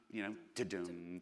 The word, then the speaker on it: Tudum: That's the sound, Tudum. So we spell it T-U-D-U-M.